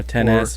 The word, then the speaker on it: XS: talk about again the iPhone XS Max Or 10s Max, as how you're 10s supposed Max. to pronounce it.